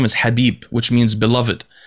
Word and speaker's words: Khabib: but in arabic so anyway his name is habib apparently and that's how this pronounced so i was listening to an interview